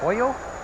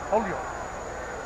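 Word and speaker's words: Holyoke: What do you guys say? Hoyo. Holio. You got to say it like you're in a hurry.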